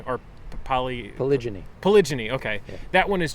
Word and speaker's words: polygyny: So what is polygamy, polyandry, and polygyny?